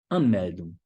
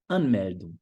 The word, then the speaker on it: Anmeldung: Então, esse comecinho aqui, a sílaba tônica fica em cima desse comecinho. Anmeldung. Anmel, L, língua só para o céu da boca, de Anmeldung, né?